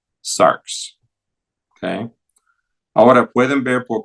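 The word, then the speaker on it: σάρξ: Puesto que hay una letra que representa el sonido de capa sigma, xi, x, vamos a usar esta letra para escribir cómo se pronuncia y llegamos a sarx.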